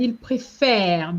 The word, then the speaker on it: préfère: You said il préfère. That is another trap where very often when students see ENT, they want to say en. No, ENT in the present tense is silent.